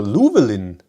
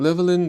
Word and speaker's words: Llewellyn: Llewellyn, it's Welsh. So Llewellyn. We have had driver shortages for months and we still have petrol. When pronouncing Llewellyn, you have to drop an A sound.